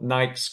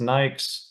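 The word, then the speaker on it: NAICS: you guys it's called Nik codes um some may pronounce it n i pronounce it as Nik same thing tomato tomato what that stands for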